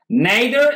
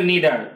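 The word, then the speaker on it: neither: এটা পত্রিকায় দেখা যায় নাইদার এবং নিদার টু প্রোনাউন্সিয়েশনস আর কারেক্ট যদি আপনি নাইদার বলেন সেটাও কারেক্ট নিদার বলেন সেটাও কারেক্ট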